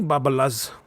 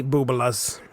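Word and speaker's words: bubbelehs: Don't thank me, Babalas. No, wait a second. I mispronounced it. See, I'm not Jewish, and I've heard this word pronounced before by my good friend Mark Rattledge. Don't thank me, Boobalas.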